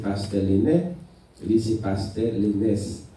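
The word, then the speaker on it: Lenes: Lui, c'est Pasteur Lénès. La seule différence, non pas là écrit à L-E-N-E-S, et puis S là, il prononcé, non pas l'écrit à L-E-N-A-I-S, c'est Lénès, ça veut dire S là pas prononcé.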